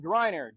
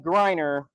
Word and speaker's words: Greiner: Next up, we have class of 29 out of Illinois, Grryer. Gr i ne. And that's spelled like my name. All right. So, and that's Grryer.